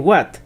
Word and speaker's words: hvat: qué y de hecho parecen pronunciarlo de más de una forma la aldeana mujer por ejemplo lo pronuncia de una manera que se acercaría bastante a la pronunciación pura de What que se parece bastante al wat del inglés mientras que El aldeano hombre nuevamente lo pronuncia algo más cercano a hot como otras unidades el